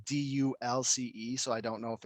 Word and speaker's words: Dulce: okay it's dolce i was wrong it's not dolce or dolce it's dulce yeah that's how you pronounce it but i didn't know enough to